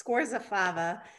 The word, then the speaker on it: Scorzafava: And pronunciation of your last name? Sure thing, it's Scorzafava.